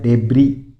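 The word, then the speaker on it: debris: तुम नहीं बोलना तुम बोलना है फिर देखो डेबरी डेबरी इसमें एस साइलेंट रहता है इसमें सिर्फ आपको बोलना है डेबरी डेबरी यानी मलवा किसी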